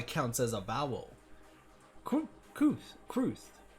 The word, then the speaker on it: cwrth: Kruth is how it's pronounced. Kruth.